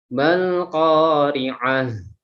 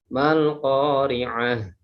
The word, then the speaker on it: al-qari'ah: Di sini lam ta'rif, maaf, lam ta'rif yaitu al ketemu dengan huruf qaf yaitu idhar qamariyah. Masih tetap ketika kita membacanya sama seperti di ayat 1. Jadi bukan mal qari'ah.